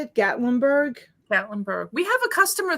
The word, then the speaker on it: Gatlinburg: spot that i can um make get gate gatlinburg is that how you say it gatlinburg gatlinburg we have a customer that we have